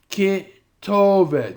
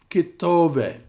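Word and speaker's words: כְּתֹבֶת: Some design or marking over the accented syllable, such as in this word, ketovet. And note this little sign above the second last syllable, ketovet.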